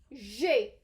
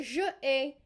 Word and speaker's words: j'ai: And if I'm saying I have, I will say j'ai, not je ai, j'ai, which is why I did not want you to pronounce je like j'ai, because j'ai means I have.